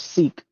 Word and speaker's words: Sikh: yes, Sikh. Yes, Sikhism. Seek and you'll find. Because you guys pronounce it like sick.